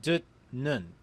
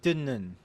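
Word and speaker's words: 듣는: The word on screen will be pronounced dut nun, but the digut meets a niun, so the digut turns into the consonant niun. Therefore, the word is pronounced dinnun.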